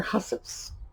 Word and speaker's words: hussif: sewing boxes and their hussifs. Now, what's hussif? It's actually spelled like housewife.